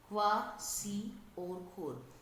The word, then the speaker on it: Kwashiorkor: The pronunciation of this disease will be Kwashiorkor.